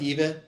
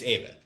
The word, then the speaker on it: Eva: your name so because it looks like Eva but it's Ava right okay yes it is